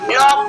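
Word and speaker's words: knock: ये आपका silent mode है इसको हम प्रनंसीएशन नहीं करेंगे तो इसको हम क्या करेंगे नॉक पढ़ेंगे इस तरह आपका नहीं मिस क्या होता है घटना होता है और ये यहां पे क्या है साइलेंट है इस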